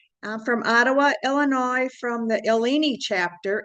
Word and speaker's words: Illini: I'm from Ottawa, Illinois, from the Illini chapter, it's pronounced.